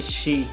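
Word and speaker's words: し: लिखेंगे शी, जब भी हम रोमाजी में कोई वर्ड लिखेंगे वो शी लिखेंगे, प्रोनाउंसिएशन भी शी, शी।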